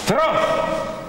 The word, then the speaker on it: Strauss: Si pronuncia Strauss.